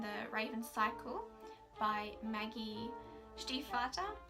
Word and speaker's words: Stiefvater: Raven cycle by Maggie Stiefvater now I know that's how you pronounce the name in English but the words do